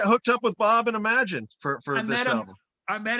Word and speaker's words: Imagen: So for a while, I was calling Imogen, and then Bob Weingart, is the president of the company, said no, it's we pronounce it Imagine.